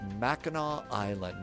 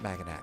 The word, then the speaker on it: Mackinac Island: It's uh Tom says it's pronounced Meno Island, not Macin.